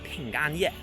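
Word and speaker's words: 平安夜: eve is pronounced as ping and yet and apple is pronounced as pingo so they sound very similar and chinese they love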